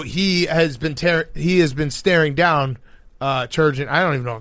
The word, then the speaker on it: Turgeon: or they call him sturgeon, which is actually the name of a fish. Yep. But it's Turgeon.